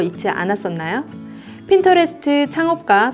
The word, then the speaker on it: Pinterest: 제가 얼핏 봤을 때 프린트라고 읽고 이거 무슨 프린트 회사인가? 잉크 관련된 회사인가? 이런 생각을 했었거든요. 프린트가 아니라 핀과 인터레스트의 합성어, 바로 핀터레스트입니다. 핀터레스트는 이미지를 검색하고 모으는 서비스입니다.